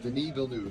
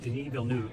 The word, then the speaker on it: Denis Villeneuve: Denis Villeneuve. Denis Villeneuve.